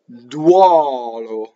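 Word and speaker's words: duolo: Going on, con, con, duɔlo. So here's an open O, because it's usually o is open O.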